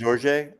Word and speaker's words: Jorge: Is it pronounced Jorge? Jorge, yes. Okay, because I have some Jorge Ben records that I didn't. Yeah, I mean his like style is unique. Like Jorge, like Spanish, But yeah.